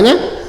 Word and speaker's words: know: तो पढ़ते रहिए, देखते रहिए, है ना। चलिए स्टार्ट करते हैं। KNOW तो के साइलेंट हो जाता है। NOW को क्या पढ़ते हैं? नो। KNOW नो।